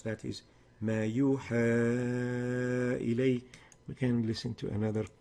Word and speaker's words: ما يوحى إلي: The proper way to pronounce that is ما يوحى إلي.